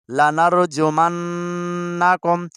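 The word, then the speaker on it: لنرجمنكم: پڑھنا آ جائے گا۔ لام زبر لا، نون را زبر نر، لنر، جیم پیش جو، لنرجو، میم نون زبر من، لنرجمن، نون زبر نا، لنرجمن، کاف میم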